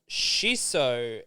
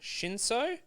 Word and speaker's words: Shinso: up we also see um shiso i'm think i'm pronouncing his name wrong shinso the gentleman the young